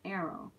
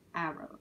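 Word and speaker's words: aro: demiromantic or deny romantic sometimes abbreviated arrow pronounce like arrow okay arrow so once again if you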